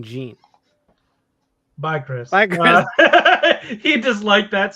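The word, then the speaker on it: Zeen: less confusing this guy's name is technically zine but they don't have that sound in Japan so it ends up being Gene bye Chris he disliked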